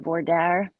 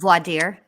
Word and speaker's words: voir dire: Lori Vallow Daybell tells the judge that in Idaho's group how do you say that? Vordaer? I can't say it. Voir dire.